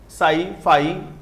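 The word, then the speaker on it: psi: स this is फाई P silent है सई चाई X मान लो X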